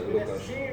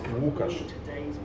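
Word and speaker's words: Łukasz: Well, exactly, it's Ukas. That, yeah, you don't have that first letter in your alphabet.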